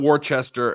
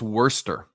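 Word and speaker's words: Worcester: pronounce that warchest okay it's not Worchester it's not war sester it's I think it's Worster I think that's how they say it I'm wrong wor sister wor no Worster that's how they I'm tell me if I'm wrong in the chat that's how I think they pronounce it they say they they say all those letters in the middle be damned them we're not gonna pronounce them she's gonna be Worster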